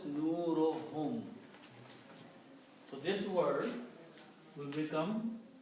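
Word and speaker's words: نورهم: So when you combine these 2 together and read, one dhamma is not read, so it is pronounced as nurohum. So this word will become nurohum.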